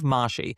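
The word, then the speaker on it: Mahshie: Yeah, Jeff Mashie.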